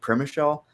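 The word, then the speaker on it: Przemyśl: The way that it's spelled is not is not how you pronounce that.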